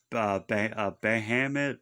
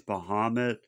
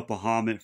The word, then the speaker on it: Bahamut: Some people pronounce it Bahamut, but I think it's Bahamut.